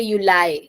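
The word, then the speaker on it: Juli: dare Uli so uh like in the beginning people say Uli yeah it's Uli because I is e pronunciation so Uli then there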